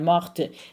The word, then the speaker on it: morte: Pronounce that T now. Elle est morte. That's what distinguishes the masculine from the feminine, okay?